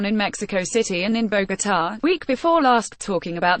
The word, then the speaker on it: Bogotá: Pompeo needs to know is it's Bogotá, accent on the last syllable, not Bogotá.